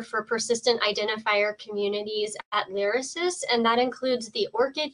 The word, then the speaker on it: LYRASIS: identifiers for etds um and sheila is from larasis is that how that's pronounced um it's lyricist lyricist okay that must sound a lot prettier um